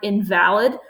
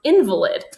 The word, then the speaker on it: invalid: So the first word on there is, you might think it's the word invalid, but it's actually pronounced invalid.